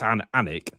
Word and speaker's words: Alnwick: I presume she's on about Alnwick Castle, where it's Alnwick. No, is Alnwick not a place? So, I'm presuming she's on about Alnwick, which is in Northumbria. Oh right. Oh well, I would have pronounced the W.